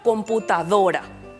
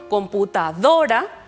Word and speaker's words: computadora: mayor fuerza por ejemplo computadora vemos que la sílaba más fuerte en la que recae el sonido es la penúltima sílaba do decimos computa adora Entonces